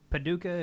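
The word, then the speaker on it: Paducah: to a I hope I don't mispronounce this Paduka Kentucky Daniel nyhof I hope I said your name right Daniel yeah that's right it's a it's Paduka is correct um it's actually Daniel neof like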